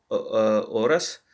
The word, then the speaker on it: horas: El avión llega a Madrid en 5 horas. So the H is silent here.